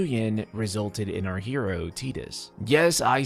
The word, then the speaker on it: Tidus: I genuinely hate to be the one to break this to you, but that is how it's officially pronounced. Again, Tetus.